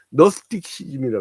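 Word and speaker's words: Gnosticism: 응 너스틱시즘이라 그래 너스틱시즘이지는 묵음입니다.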